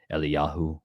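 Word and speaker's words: Eliyahu: you ever think about Elijah you guys eliahu as his name was maybe a little more accurately pronounced I'm not dieh hard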